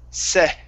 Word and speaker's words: said: Okay, here we have a short E sound instead of said. Okay, the word is said. Said.